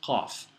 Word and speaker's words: ق: Two dots, and that letter is qaf. Here's qa, qa, qa. Pronounced a bit like you're choking.